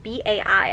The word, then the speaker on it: Bai: Bai, I think it's B-A-I, I think it's Bai is how you pronounce it.